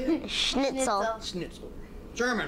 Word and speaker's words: Schnitzel: Schnitzel.